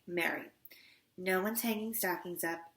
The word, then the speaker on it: Mary: Like rhymes with cherry. Mary.